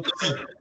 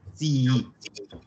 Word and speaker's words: zii: Pronunciamos las dos, no digo zii, digo zii.